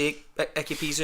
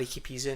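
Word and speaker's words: Ikpeazu: was saying he got word from close to Icky Pizu and that's how you say his name, and they were like, no chance, absolutely no chance. The rest of the guys, I pronounce it as Piatsu, but I'm up for Icky Pizu now.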